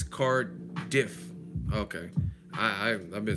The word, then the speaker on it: Cardiff: I was emphasizing the if, Cardiff. Yeah, okay. It's just like it's spelled.